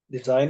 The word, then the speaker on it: design: Des sign it okay this is not s but this is Zed design it design okay and